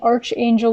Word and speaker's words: archangel: is archaic arc angel archangel gabriel sorry i was just listening to a reader on youtube actually just before doing this that was saying arch angel which i know is a mispronunciation so i'm trying desperately